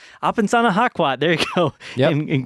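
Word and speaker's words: Apesanahkwat: I cannot pronounce his name. Apensana Hakwat. It's Apensana Hakwat.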